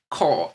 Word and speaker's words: ko: So the word core is actually from Japanese pronunciation of this Chinese character.